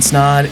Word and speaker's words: Snod: My name is Snod. It rhymes with the odd.